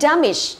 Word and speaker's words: damage: Ok, damage, được chưa? Damage là động hoặc là danh và trọng âm của nó rơi vào âm thứ nhất.